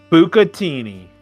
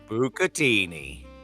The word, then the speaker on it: bucatini: Pronunciation. Top Google result. Oh, absolutely. Bucatini. Bucatini.